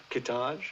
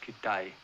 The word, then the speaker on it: Kitaj: in danger there's hedgepath kitaj oh it's pronounced kidai whitcomb the woman knows